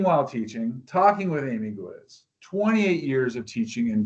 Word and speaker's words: Gwizdz: The D is silent. It's just quiz. rhymes with quiz. Talking while teaching talking with Amy Giz, 28 years of teaching